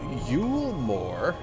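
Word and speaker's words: Eulmore: Yulmore is canon pronunciation.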